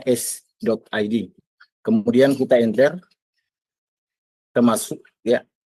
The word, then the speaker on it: s.id: Jadi dibacanya s.id.